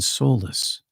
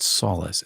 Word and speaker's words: solace: Offering both justice and compassion, strength and soloulless. I should pronounce that solace.